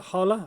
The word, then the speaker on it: Hola: And yeah, this is basically the replacement for the Hola or Hola, depends on how you want to pronounce it.